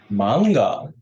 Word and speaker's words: manga: Tulisannya manga, tapi kita bacanya double G. Mangga.